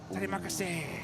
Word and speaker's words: Terima kasih: Oh, is it Terima kasih, right?